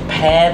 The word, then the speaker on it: pare: This recipe says initially to pare the apples, but it's spelled P-A-R-E, like a pear.